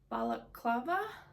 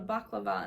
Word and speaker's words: balaclava: And then this is it's balaclava. I always said it wrong. I used to always call it a baklava, and then I found out that that's actually a dessert.